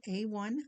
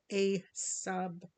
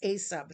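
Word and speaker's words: A-SUB: It is a sub paper, I believe it's called. Yes, a sub, not A1, just a sub.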